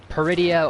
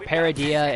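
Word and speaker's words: Peridea: planet or this galaxy called peridia or paradia it's pronounced different it's like it's like saying potato potato tomato tomato sort of our deal and they're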